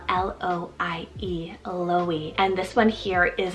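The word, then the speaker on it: Loie: means Snowdrop I also found recently the name Louis spelled l-o-i-e Louis and this one here is a French rooted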